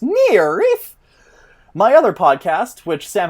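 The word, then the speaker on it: NIIRYF: r y f pod which are the letters for not if i beat you first and that's pronounced near reef my other podcast which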